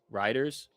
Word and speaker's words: Reuters: uh how do you how did somebody say you pronounce it? Riders. Yeah, riders. I said ruters. Yeah, so it's riders.